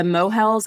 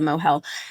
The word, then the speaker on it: mohel: rabbi but they're the mohels I just looked it up it is a mohel they are I might be saying it wrong but it's mohel they are specifically trained in